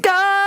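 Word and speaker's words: Kuzco: Cusco. How do you say it? Cusco!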